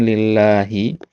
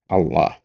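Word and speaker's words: لله: Kalau enggak ada alifnya itu bacanya lillah ya. Kalau ada alifnya bacanya Allah. Nah, ya. Ini enggak ada alifnya berarti lillah.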